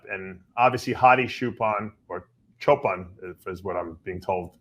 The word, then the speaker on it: Choopan: And obviously, Hadi Choopan, or Choopan, is what I'm being told. Milos told me is the right way to pronounce it.